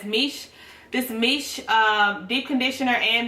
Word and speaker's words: Miche: It's M-I-C-H-E, but it's pronounced as Miche.